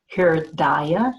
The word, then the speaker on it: hridaya: I think it's pronounced Hridaya, H-R-D-A-Y-A, and it's loosely translated as that, which does not change, as well as the heart.